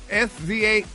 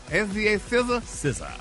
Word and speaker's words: SZA: SZA SZA.